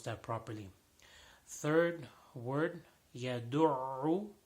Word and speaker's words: يدع: Third word, يدع, there is dal and then a ayn after that.